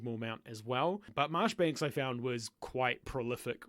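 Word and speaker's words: Marjoribanks: that kind of stuff another one is Alexander marshbanks who in the episode I called majori Banks because I didn't realize that you actually pronounce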